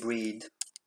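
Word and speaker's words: Brighid: Enfin, moi j'avais l'impression d'avoir toujours eu l'habitude de l'avoir écrite avec un H, GH, qui donc en gaélique ne se prononce pas.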